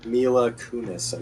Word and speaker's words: Mila Kunis: We won't mention American Psycho 2 with how the hell do you pronounce her name? Mila Kunis.